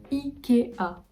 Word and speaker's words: IKEA: ouverts les a à ma zone amazon 12 ikea y est pas ikea je vais aller voir